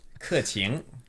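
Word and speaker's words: Keqing: It's like through the teeth. Yeah. Qing. Qing. Qing. Or if you're a super northerner, qing. Okay. So Ke qing.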